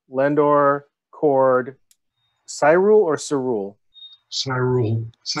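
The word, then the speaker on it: Syrul: Cyrule, okay. Even though Cyrule. It's spelled S Y R U L, I think. S Y. I think someone. Yeah. S Y R U L. But I pronounce it Cyrule.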